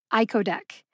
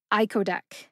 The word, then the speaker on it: icodec: learn how to say iodc iodc has three syllables see if you can